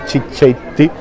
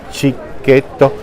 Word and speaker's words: cicchetto: So once that you come to Venice you call it cicchetti cicchetto. And so normally our friends, the the the foreigners, the majority of the foreigners they call it cicchetti but the right pronunciation is cicchetto.